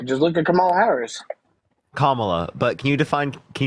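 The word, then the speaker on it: Kamala: look at Kamal Harris commala but can you define can you define communism wait wait how do you say her name kamla oh okay camel toe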